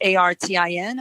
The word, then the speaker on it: Artin: So maybe now everyone will remember pronounced, Artin, which is Artin. And I like to think of it as puts the art in music.